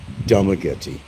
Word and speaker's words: Dumaguete: And numerous people in Dumaguete, and I got to say Dumaguete because that should be the pronunciation of the name, Dumaguete.